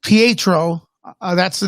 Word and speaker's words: Pietro: we go there you go uh yeah it's pronounced pietro uh that's the name for for uh quicksilver